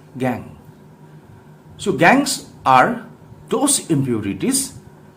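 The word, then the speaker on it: gangue: called as gang so check the spelling of gang z-a-n-g-u-e should be pronounced as gang so gangs are those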